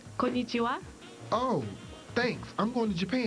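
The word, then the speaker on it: こんにちは: Kanaichi something. It's pronounced konnichiwa.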